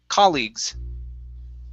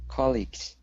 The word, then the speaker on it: colleagues: last word here is colleagues same thing stressed at the very beginning colleagues colleagues okay good one more